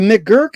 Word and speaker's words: McGurk: Let me see if I can pronounce it correct. McGurk effect. Yeah. Okay, the McGurk effect.